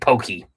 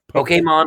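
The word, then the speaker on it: Pokémon: said it you said pokey Pokemon little accent poke Pokemon yes Pokemon or Pokemon those are the acceptable ones not poke not a long e don't say Pokey no don't make it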